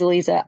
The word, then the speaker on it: Lisa: Let's see, Lisa, is that how you pronounce it, Lisa? It is, Lisa.